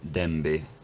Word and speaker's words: dęby: that, which is that now that it's not word final, it's pronounced as b again. So clearly at some point in the recent past you had something like dąb and dęby, and then in the